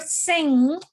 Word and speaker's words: sing: And remember, in the word sing, the transcription is, Ma'am, someone came with my name only, ma'am. They're disturbing. Aisha ma'am, please. See, the transcription is written like this. That's all. G is silent here.